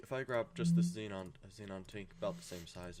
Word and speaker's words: xenon: saw this car with xenon lights and I always pronounced it Zenon because I didn't know any better. And he was like, "Wait, what? You mean xenon?"